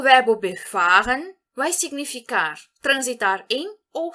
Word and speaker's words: befahren: Ou seja, o verbo befahren vai significar transitar em ou circular em. E aqui, cuidado, nós vamos entonar a segunda sílaba dele.